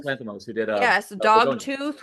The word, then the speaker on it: Lanthimos: I can't pronounce the guy's name, the guy that did Lorgos Lathamos, Oh, Yorgos Dogtooth. Lanthimos, who did Yes, Begonia.